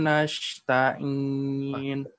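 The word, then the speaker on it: نَسْتَعِينُ: Iyyaka na'budu wa iyyaka nasta'in. Jangan jadi sya. Jangan jadi ya. Tetap sin dia, tapi harus ditekan. Nasta'in. Karena dia punya rokhawah tadi ya. Huruf-huruf yang mengeluarkan angin harus ditekan kalau kita sukun.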